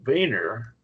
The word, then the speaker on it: Wiener: Wiener, now this is a German name, and a W is pronounced like a B.